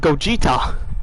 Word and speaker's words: Gogeta: Go Get is my favorite mispronunciation. It's up there with Go Gash. Hey, At least I said Gogeta.